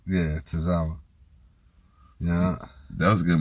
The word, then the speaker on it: Tozawa: And then we had Dominic versus how you pronounce his name? Tozawa. Yeah, Tozawa.